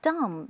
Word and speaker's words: dumb: 那是当然的，几乎每一个人呢都喜欢一部好的喜剧片。如果你喜欢喜剧的话呢，那可能就会喜欢那个《阿呆与阿瓜》。那 dumb 是口语呢，愚蠢的意思。Dumb and dumber 是说一个傻子，那另外一个呢又更傻一点了。那 dumb 这个虽然是 D-U-M-B，后面的 B 呢是不发音的，所以是 dumb and dumber.